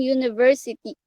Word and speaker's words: university: have an University sorry the word university starts with letter U which is a vowel but we use an article a because the you hear sounds as you as a word spelled as y o u so okay